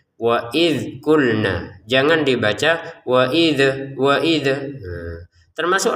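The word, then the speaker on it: قُلْنَا: Contoh, wa idh kulna, 2 harokat panjangnya kalau berhenti. Kalau digabungin, wa idh kulna dakhulu, jadi panjangnya na menjadi hilang ketika sudah dipertemukan dengan sukun. Begitu cara bacanya ya.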